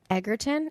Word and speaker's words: Egerton: Egerton.